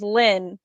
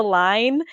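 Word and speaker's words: Lyne: Which funny fact about that, my middle name is Lynn, but it's spelled L-Y-N-E. So I am very mean to my mother, and I'll just be like, yeah, my name's Line.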